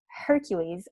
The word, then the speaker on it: Hercules: like ah or a Hercules in Greek starts with an Aida and a rough breathing that's why we pronounce it Hercules or at least in English the texts themselves did